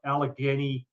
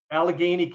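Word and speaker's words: Allegheny: groundbreaking study come out of Pennsylvania out of Alagany County I think it's called. It's the county in bit where I am. Yeah that's all right. How do you pronounce it then? Alagany Alageney County.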